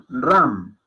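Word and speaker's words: राम: Entonces, aquí estoy escribiendo el nombre del señor Ram. ¿Okay? Ahí dice Ram, no Ram. Se puede pronunciar Ram, pero es más fonéticamente correcto llamarlo Ram.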